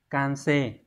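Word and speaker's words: 完成: Đọc là kanse. Kanse này có nghĩa là hoàn thành, hoàn tất một cái quá trình nào đó. Minna no iken ga hitotsu ni kansei shita no de kore kara hapyou shimasu.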